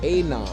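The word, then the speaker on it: ANOM: a encryption company called a nom a-n-o-m is how it's pronounced so if you notice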